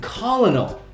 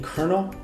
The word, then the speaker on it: colonel: Honey Trap incident but there was an American colonal did you hear about this back like I